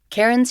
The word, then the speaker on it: Cairen: My name is Karen and just to provide the spelling of my first name because that confuses a lot of people.